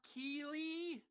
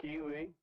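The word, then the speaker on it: Keighley: jeff jeff keely anybody i think it's pronounced keeley spelled strangely but i think that's right um can someone find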